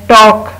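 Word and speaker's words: talk: Then टॉक, बात करना, अब हम इसमें एल प्रोनाउंस नहीं करते, टॉक।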